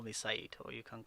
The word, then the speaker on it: Saeed: name is people find a lot of difficulty pronouncing this so i just easily tell them well you can call me syed or you can call me i come